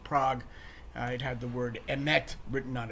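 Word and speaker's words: אמת: This the modern Israeli pronunciation. Emes and mes would be the Ashkenazi pronunciation.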